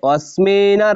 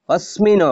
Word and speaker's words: অস্মিন: আলাদা করে নিলাম এইজন্য এরপর হবে অস্মিন সমুদমে অসমিন হবে না অস্মিন রণুদ্যমে এই অস্মিন অর্থাৎ এই